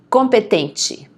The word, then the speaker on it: competente: Competente. Notice the pronunciation of the E at the end, okay?